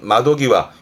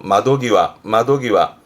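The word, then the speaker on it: 窓際: 발음은 마도기와, 요때는 땡땡 붙어서 마도기와.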